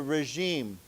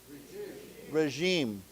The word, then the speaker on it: regime: So this word here G is pronounced with a ja sound. Okay. So why don't we say together regime regime regime okay so they're